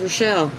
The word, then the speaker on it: Rachael: No, really, Brett, my name is Rochelle. It's spelled Rachael, and I've always, when I was real little, they called me Baby Rach.